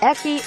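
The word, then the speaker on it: ecchi: By the way, a similar slang has eki because hentai's acronym h can only be pronounced eki by the Japanese.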